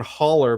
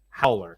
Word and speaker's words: Haller: And I always call him John Holler, but like he pronounces it Howler. Howler, like a short A.